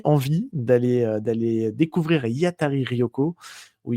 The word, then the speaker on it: Hiatari Ryoko: d'aller d'aller décou découvrir Yatari Rioko ou Yatari Lyoko. Dit, il faut pas trop prononcer le R. Normalement, si on prononce à la à la japonaise.